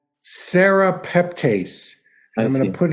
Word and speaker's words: serrapeptase: the eye oh I see and it's called serrapeptase and I'm going to put it in the chat here um it's spelled s-e-r a p e p t a